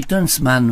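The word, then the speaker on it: Tönsmann: Tunchman, c'est comme ça qu'on prononce? Oui, Tunchman, oui, qui est un Péruvien, mais qui s'est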